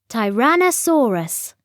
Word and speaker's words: Tyrannosaurus: tyrannosaurus got its name how do you say it tyrannosaurus say tyrann oh osaurus on the beach on